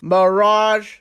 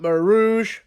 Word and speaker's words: mirage: okay first of all it's pronounced mirage not marouge where you get the old front mate there's no o in the world we learned a word